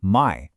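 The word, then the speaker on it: 枚: And that counter is my, pronounced my.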